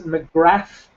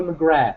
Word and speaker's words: McGrath: mcgrath and stuff mcgrath by the way his name is mcgrath his name is cole mcgrath mcgrath's an irish name i'm an irishman i think i know how to pronounce his name uh in other news